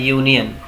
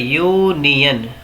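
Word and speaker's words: union: लिखा है यूनियन। क्या लिखा है? यूनियन। तो इसकी जो स्टार्टिंग है ना इसका जो मतलब प्रोनंसिएशन है उच्चारण उसकी स्टार्टिंग या से हो रही है या और अगर आ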